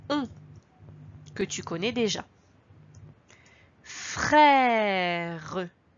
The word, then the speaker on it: frère: Dans frère, il faudra faire attention à l'accent. C'est un accent grave, il descend. Attention si tu le mets dans l'autre sens, si tu mets l'accent qui monte, l'accent aigu, on lira frère. Tu entends la différence? Frère, frère. Ici, il y a également